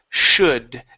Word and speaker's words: should: next the word is should the L is silent so we don't say shoulder okay the Ellis Island